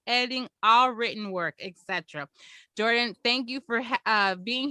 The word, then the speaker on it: Jhordynn: presenting for us today and she oh it's pronounced jordan but you see how it's spelled awesome uh